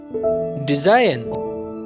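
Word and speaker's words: design: डिजाइन, खाका या नमूना, तो डिजाइन में जी जो है वो साइलेंट है, यानी साख्त हुरूफ है।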